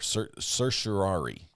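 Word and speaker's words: certiorari: it's worse than Welsh it's like sushi and Ferrari Mi mixed together s curari okay I got it every time I say that word wrong uh going forward just remember that once I said it right so the court was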